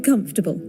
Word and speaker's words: comfortable: Comfortable. Three syllables. Even wizards, British wizards pronounce it in this way.